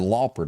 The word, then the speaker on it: Lauper: And you pronounce it Lauper, don't you? Lauper.